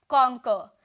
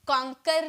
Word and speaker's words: conquer: ये जो लास्ट में र जो होता है ना, इसका जो प्रोनाउंसिएशन की जाती है हाफ में की जाती है, कॉन्कर नहीं बोलेंगे। ओके, हम बोलेंगे कॉन्को, कॉन्को। ओके, इस तरह से बोलेंगे, हाफ में प्रोनाउंसिएशन करेंगे।